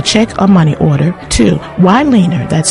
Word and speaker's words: Wyleaner: please send your check or money order to waner that's spelled Wy l e a n e r